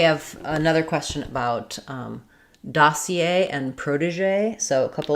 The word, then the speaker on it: dossier: Um, so we have dossier. Uh, I would respell that or rewrite that as da c a with our main stress on a dossier.